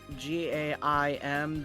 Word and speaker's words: Gaim: If it's spelled G-A-I-M, then it's I, like... Oh, okay, so Gaim.